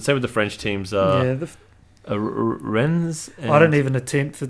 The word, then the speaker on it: Rennes: But I believe ES at the end is silent, so Rennes would be. Is it Rene? No, it would just be Rennes. No, Rennes. And also R's in French are.